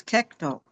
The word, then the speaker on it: Kekto: And he told told us the correct pronunciation of Keto's name. It was Kekto.